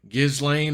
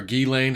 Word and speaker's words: Ghislaine: not McAfee it's McAfee John McAfee posts name giz lane or gee Lane how the hell you want to say her